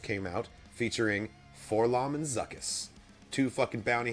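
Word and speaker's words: 4-LOM: And then he has a droid companion, Forlom, or 4LOM, apparently it's actually pronounced.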